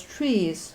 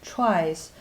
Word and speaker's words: trie: And this one, some pronounce it as trees or some like tries, is a tool to process English words.